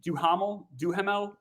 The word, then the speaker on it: Duhamel: I always mispronounce his name. Duhamel.